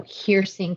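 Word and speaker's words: Heersink: actually even had um a little phonetic of how to pronounce the name of our new school of medicine so hearsing is the way they the way that you say that so um that's a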